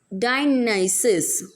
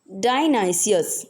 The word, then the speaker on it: Dionysius: So here are some pronunciation. First one, Pannadai. Second, it is not Daman, okay, it is Deman. Pythias, Dionysus. What is this? Dionysius, okay.